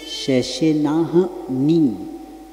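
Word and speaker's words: शशिनाह्नि: तो यहाँ पहली लाइन में जो आया था ना, शशिनाहनि, यहाँ उच्चारण सावधानता से करना। पहले लाइन में कौन सा शब्द है, शशिनाहनि, ह आधा है और क्या है, नी है। तो इसको कैसे बोलना, शशिनाहनि, क्योंकि लोग कई लोग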